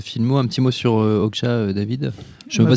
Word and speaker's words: Okja: Un petit mot sur Okja, David. Je ne sais pas si je le prononce bien. Okja, ouais.